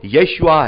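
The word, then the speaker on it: יֵשׁוּעַ: क्योंकि यीशु से जो नाम प्रभु यीशु मसीह का आया है, हम जानते हैं प्रभु यीशु मसीह का असली जो हिब्रू में जो प्रोनाउंसिएशन है वो यशुआ है, यशुआ।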